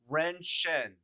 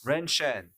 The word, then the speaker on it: 人参: So the character ginseng is pronounced Ren Shen.